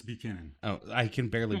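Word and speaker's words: Buchanan's: I said it's res Bushman is a scotch whiskey okay buan it's Buchanon oh I can barely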